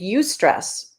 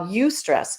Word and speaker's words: eustress: we learned this in massage school stress and use stress i never heard of you stress before it's spelled e-u-s-t and so it's got the word